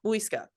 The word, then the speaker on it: Muisca: And I even wrote it out phonetically, and I still can't get it. Muisca? Muisca? Muisca. Yeah, Muisca.